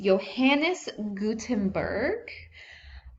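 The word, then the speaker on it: Johannes Gutenberg: in the early 1450s johanis Gutenberg and that's how you say it you don't uh pronounce the J he developed a printing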